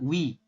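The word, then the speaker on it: ㅚ: Jadi kita bacanya sama, wi, bukan oi. Ini kan oi ya, o dengan i, maka dibacanya wi.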